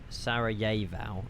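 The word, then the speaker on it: Sarajevo: Sarah Jivo pronunciation. Sarah Yeeo.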